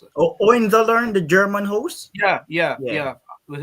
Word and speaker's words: Hohenzollern: How do you pronounce it? Oh, Hohenzollern, the German host.